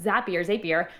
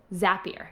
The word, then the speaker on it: Zapier: But after that, and I'm glad you said something about like Zapier. I always say that wrong. Zapier. It rhymes with happier.